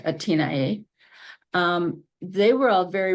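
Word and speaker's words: Athénaïs: anriette um and um Athan um which should be pronounced atina um they were all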